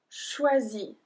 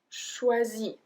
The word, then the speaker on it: choisis: So if we put them together, we have je choisis. Je choisis. We don't pronounce the S at the end.